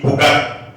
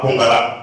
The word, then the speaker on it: Pongala: SFO, nous on dit Pogat, nous on dit pas Pongala, nous on dit Pogat. C'est quand on veut prononcer en en français qu'on parle de Pongala.